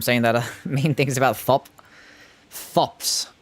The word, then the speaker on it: Thops: mean things about thop thops apparently the H is silent but I'm still going to call him thops but the geeses well